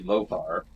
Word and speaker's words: Lother: see us again so spelling it like lothar with an a lot h a r would be lothar they drop the a and spell it as lother and but they still say lothar whatever well this is